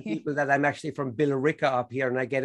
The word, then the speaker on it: Billerica: love how you spy how you pronounce billerica like you we pronounced everything we just say bill ricka even the elves